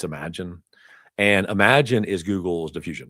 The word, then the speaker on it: Imagen: Um your your true diffusion model in uh Google cloud is a is imagine is the way they pronounce that. It's not Imagen, it's imagine.